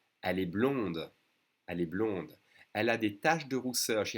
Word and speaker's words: blond: on those two colors he's blonde make sure you don't say the d otherwise it sounds like